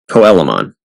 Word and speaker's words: Coelamon: Derek has number 175, Crabmon, which we see become Coelamon. Yes, that is the official pronunciation. It should be Coelamon because it's a coelacanth, but that's what was said, so that's what it is.